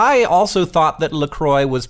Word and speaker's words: LaCroix: And they say on the website, it says right there, it's pronounced LaCroix, like enjoy.